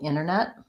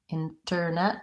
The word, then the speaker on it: internet: clear T Center but often when there's an NT in the middle we don't really hear that T sound center Center so for example internet internet I can say it with Internet with the T but often you'll hear people say it a little bit more like Internet the thing that I'll